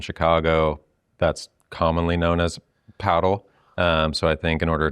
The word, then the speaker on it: padel: It's pronounced paddle, not padel, and we've got the